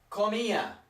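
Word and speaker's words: comía: are completely different again we would say yo komiya yokomiya with an accent on the eye yokomiya could mean I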